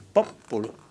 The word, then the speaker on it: popolo: Ainsi, on dit qu'en italien, l'accent tonique est quelquefois, pour certains mots, sur l'antépénultième. Quand vous dites popolo, le peuple, popolo, vous voyez, c'est avant-dernière.